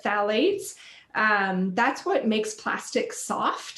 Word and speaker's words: phthalates: So there's the phthalates, which is spelled PHTH. So is how it starts, but phthalates.